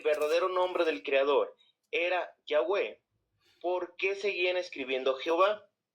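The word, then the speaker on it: Yahweh: general unánime de que la pronunciación original es yahwe miren Se los voy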